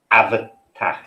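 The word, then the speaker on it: Abhartach: it is called um the way it's pronounced is avatar right have a guess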